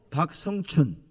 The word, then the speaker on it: 박성춘: 박승춘이 아니고 박성춘.